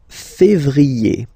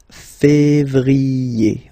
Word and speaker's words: février: Then comes février, février. Okay, remember when you have this accent aigu on the top of then you pronounce it E, okay?